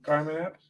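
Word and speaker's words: Carmine Appice: After about 40 minutes, in comes walking Carmen Appice, how do you say his name? Carmen Appice, yeah.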